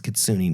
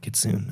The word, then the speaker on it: Kitsune: Or and when I go to Kitsune come down and remember It's Kitsune not kit soon.